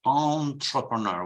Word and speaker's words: entrepreneur: Like, for example, and we will see now, when you speak of imprenditore, it's written with an E, but it's pronounced entrepreneur with an on.